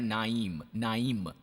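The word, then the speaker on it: Nain: Bible में यह है नाइन, पर इब्री में इसका उच्चारण है नाइम, म के साथ।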